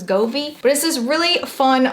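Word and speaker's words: Govee: from i think it's govi i think that's how it's pronounced as govi but this is really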